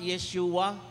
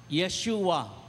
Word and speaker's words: Yeshua: ibig sabihin ng ah Yeshua Sabihin niyo nga Yeshua Yeshua Ayan narinig niyo na po ba yung bigkas na Yeshua so Yan po ang hebreong